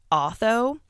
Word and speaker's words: Otho: I think it's Otho, spelled O-T-H-O.